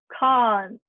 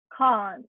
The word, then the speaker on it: can't: um my favorite one khan it's a long vowel sound ah the khan americans say with a short vowel sound british can't and it's much clearer